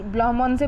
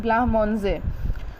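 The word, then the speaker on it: blancmange: ने जो है वो अपना घर पे आज ब्लाहमोंजे बनाया था। इसको देखिए, इसको प्रोनाउंस करते हैं ब्लाहमोंजे।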